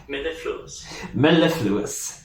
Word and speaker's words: mellifluous: Let's get the pronunciation. Mellifluous. That's what it said in a I guess a British accent.